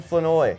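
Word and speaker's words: Flournoy: Ryan Fenoy, yes, that's how it's said.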